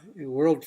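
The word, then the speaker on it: Foch: it's a quote from marshal Ferdinand over it's pronounced world French commander World War one my Center is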